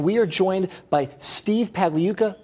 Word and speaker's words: Pagliuca: are joined by Steve Pavley yuca pala yuca silent G get that everyone in